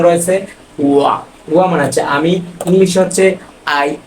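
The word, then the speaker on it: 我们: এখানে বাংলা উচ্চারণ রয়েছে ওয়া। ওয়া মানে হচ্ছে আমি, ইংলিশ হচ্ছে আই অথবা মি।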